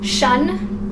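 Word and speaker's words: -tion: So we're gonna focus again on T-I-O-N, because shun, which is how T-I-O-N is pronounced, is a really common word ending.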